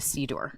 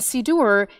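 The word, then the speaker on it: siddur: a moment is the c door the prayer book right and sidor it sounds like the word passover seder because both of them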